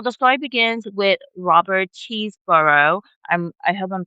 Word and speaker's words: Chesebrough: So, the story begins with Robert Chesebrough. I'm I hope I'm pronouncing his name right.